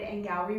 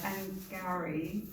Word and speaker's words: Angourie: You mentioned Angourie. I almost said Angourie, which is me just being klutzy. But Angourie flowery, it's very easy to remember. Yes, Once you rhymes with flowery, yes, you'll never forget it.